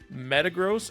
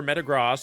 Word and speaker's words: Metagross: is another thing where I Chang how I pronounce the Pokemon name like tragos Metagross or Metagross I say both whatever you say cool with you that's how I do